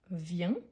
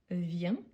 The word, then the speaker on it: viens: vient attention au terminaison je viens avec S tu viens avec s il elle en vient avec T si bien qu'on ne les prononce pas nous venons vous venez